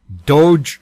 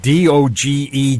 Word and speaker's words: Doge: cryptocurrency grabbing headlines is doge coin now that pronunciation d-o-g-e coin but the the inventor of it he says it's pronounced doge some people are calling